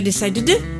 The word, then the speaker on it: decided: on peut pas dire decide de ou decide de te, parce qu'évidemment, donc on y va, on prend notre petite terminaison ed, mais pas id, comme on dit souvent les Français.